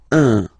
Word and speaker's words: un: but you've got to pronounce it like un. So it's what we call the nasal, so it goes in your nose, okay? Un. So if you listen to me, you don't hear any N, okay?